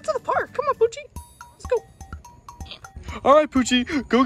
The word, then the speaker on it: Poochie: His name is Poochie. Poochie? Yeah, man. It rhymes with Toochie, like your butt.